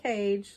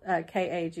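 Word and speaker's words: Kage: we call him KAG it's not cage like it looks when it's spelled k a g e it's KAG it's um Japanese it means Shadow because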